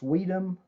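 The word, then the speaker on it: Suydam: Interior art by Arthur Suedem. I've heard it pronounced Sweedem. I'm going to play it safe and go with Suedem.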